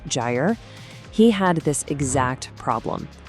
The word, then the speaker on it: Gyre: He's the founder of a tool called Gy. And by the way, that's pronounced GRE.